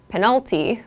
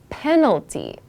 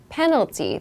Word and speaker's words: penalty: of your pronunciation not penalty but penalty penalty the emphasis is on the first syllable so penalties like red